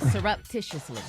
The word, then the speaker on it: surreptitiously: Surreptitiously. No, rep. Yeah. It's pronounced surreptitiously.